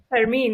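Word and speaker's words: Fermín: Fermin, yeah, Fermin.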